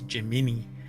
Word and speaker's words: Gemini: gbt and Gemini and this is pronounced Gemini but the space uh the the the um astronaut Space Project thing what do you call it I don't know anyway it was jimini which is a weird pronunciation for it but I guess that's that's how it's supposed to be pronounced anyway so far we